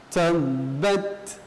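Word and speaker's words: تَبَّتْ: Maka cara membacanya adalah yang lebih dahulukan adalah sifat syiddahnya, kemudian hamas. Ya, baik, kita baca. Tabbat. Ya, jadi syiddah dulu baru hamas.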